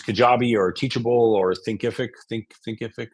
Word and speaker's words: Thinkific: Thinkific is how you say it.